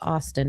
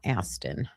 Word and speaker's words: Austin: It's Austin, not Aston.